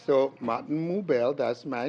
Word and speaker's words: Moubel: I'm saying that because sometimes some people would mispronounce my name they would say things like marble more I'm like is that me all right so Martin mobile that's my name I